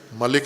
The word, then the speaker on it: ملک: وہ مالک ہے، کہ مالک یوم الدین پڑھیں، ملک نہ پڑھیں، مالک یوم الدین پڑھیں، تو یہ درست تلفظ ہے۔ ملک بھی اگر پڑھ دیا آپ